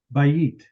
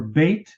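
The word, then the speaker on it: בית: Bayit. Tov Ma'od. A bayit is a house. Or bait is it's often just the vowels just blend together the way it's often pronounced.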